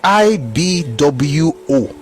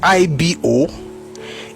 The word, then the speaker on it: Igbo: Igbo is pronounced I-B-W-O. That's the proper way to pronounce Igbo, even in Igbo language. It's not I-B-O. It is definitely not I-G-B-O. It is actually I-B-W-O in pronunciation.